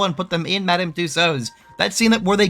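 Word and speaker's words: Tussauds: were actually at Madame Tuso's which by the way is spelled like Tusid and I didn't know that until this video which is funny to me.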